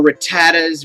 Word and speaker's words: Rattata: And, so I pronounce it correctly as RATTATA. That's just how I've always grown up hearing it.